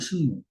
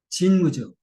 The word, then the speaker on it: 진무: 신무천왕이 신무. 진무죠. 일본 발음은 진무고, 한문은 신무고. 어?